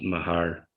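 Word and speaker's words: Meagher: uh cousin oh well so it's pronounced mahar even though you know you wouldn't think that when you looked at the name but i thought i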